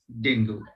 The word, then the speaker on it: dengue: a person suffering from dengue. It needs to be pronounced as dengue.